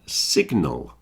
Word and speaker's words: signal: we've got sign and Signal you notice the G is pronounced in signal but not in sign the difference I think